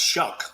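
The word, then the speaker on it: Shough: Well, it's easy for all of us in the Gulf Coast because it's pronounced shuck like you shuck an oyster.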